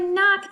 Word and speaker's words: knock: let's see 100 knock-knock in the word knock there are two k is this someone sounds like a normal cake this one is silent we can't hear it knock-knock jokes there's a